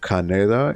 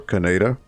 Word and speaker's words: Kaneda: He was also the voice of Kaneda in Akira. Or Kaneda, depending on how you say it.